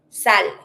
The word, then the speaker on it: sale: Sale. Sale is dirty. Same rule. Never pronounce the e at the end.